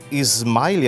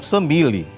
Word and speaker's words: Samile: Ismaile, assim que se pronuncia. Não, Samile.